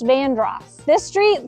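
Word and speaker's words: Vanderhorst: this street is pronounced Yuji this street is pronounced vandr this street is pronounced Hazel I like to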